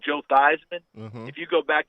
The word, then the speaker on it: Theismann: a blank look because the real family name is Thiesman. Oh. They changed it to Theismann at Notre Dame to rhyme with Heisman, and they were trying to get the Heisman Trophy.